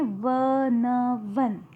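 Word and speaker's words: one: पर लिखा है वन तो हम इसका प्रोनंसिएशन करते हैं व न वन तो व का उच्चारण हो रहा है यहां पर और व जो है जब हम व कहते हैं तो ये कॉन्सोनेंट साउंड लग रहा है यह कॉन्सोनेंट साउंड है जब हम व पढ़ते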